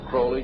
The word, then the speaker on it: Crowley: have his name pronounced crowley to rhyme with holy and the satanist today